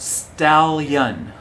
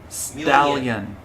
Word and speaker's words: stallion: ion is young like onion yes so it's pronounced stallion stallion yeah and like million also million stallion onion